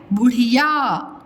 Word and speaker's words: बुढ़िया: अभी देखिए नेक्स्ट, ये कौन है, बुढ़िया, बुढ़ी या, बुढ़िया।